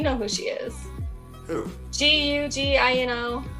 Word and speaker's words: Gugino: Gugino. How do you say it? It's like Italian. Say it again. Gugino.